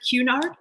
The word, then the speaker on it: Cunard: I think you guys pronounce it Cunard. Yeah, Cunard, I would say, yeah.